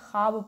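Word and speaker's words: خواب: किसे कहते हैं जो जिस वाव को पढ़ा ना जाए सिर्फ लिखा जाए जैसे कि ख्वाहिश लिखा जाता है ना ख्वाहिश लेकिन हम इसको क्या पढ़ते हैं ख्वाहिश पढ़ते हैं ख्वाब लिखा जाता है लेकिन इसको हम लोग क्या पढ़ते हैं ख्वाब पढ़ते हैं ये जो वाव है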